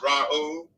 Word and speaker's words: Ra'u: But that name is pronounced Ra'u. Ra'u. Is.